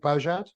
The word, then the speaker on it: Beaujad: much for having me my name is beaujad and that is how you pronounce my surname um because most people